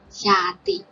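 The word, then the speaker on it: ရာသီ: Here is alphabet ya and a symbol, so we pronounce ya. And second one is alphabet ta and e, so we pronounce ti. Altogether, xiati. Xiati.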